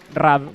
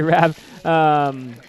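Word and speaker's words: RAB: RAV would be in Spanish, so I would say RAV.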